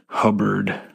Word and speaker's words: Hubbard: this book it's a it's called pain Hollow it's spelled p a y NE e Hollow it's by a man named Harland hubard h u b b a r d the